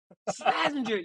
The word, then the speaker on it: Slazenger: dude I could never I didn't pronounce I didn't know how to pronounce the name until it's like a couple years ago Slazenger yes yes I the bush I'm